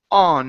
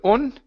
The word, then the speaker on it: on: Let's go here to the word on instead of on. Okay. A. Open up your mouth nice and wide.